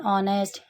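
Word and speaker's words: honest: ऑनेस्ट starts with the vowel sound ओ। अब इसको जब मैं प्रोनाउंसिएशन मतलब वही उसको बोल रही हूँ, तो उसमें एच का साउंड नहीं आ रहा, एच साइलेंट है।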